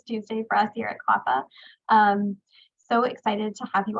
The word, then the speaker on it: CLAPA: I'm the Director of Cross-Sector Initiatives here at CLAPA. That's how we pronounce that acronym.